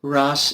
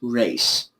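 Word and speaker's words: Ra's: if I'm not mistaken this is not pronounced Ras it's pronounced race okay that's what I'm believe to be the case of course aloun it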